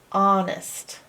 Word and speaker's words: honest: The only strange thing is this silent H at the beginning. This is the part you gotta learn by heart in the word honest. To be honest, I didn't expect the word honest to be spelt with an H in the beginning. It's like honest, but you can't hear the you can't hear that H.